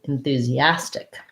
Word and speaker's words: enthusiastic: it's unstressed and short in thu we the u says the tense oo val in through this s says a z um and we have the e tents e enthusia ass with an s sound and then tick again back to our lax if vowel and a k sound at the end so enthusia enthusiastic i'm very enthusiastic about